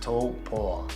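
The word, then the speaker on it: Taupo: way down past Lake topa looks like Tao it's pronounced toe paw like a toe and a dog paw I still struggle with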